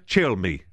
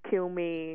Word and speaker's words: Cilmi: minutes together cool Gabriela chill me did I pronounce it properly yes you did which is a good thing because I get like all kinds of things like Kill Me Oh no just make